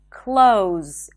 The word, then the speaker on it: clothes: And instead of saying clothes with a TH and a Z, you can just say close, as in close the door.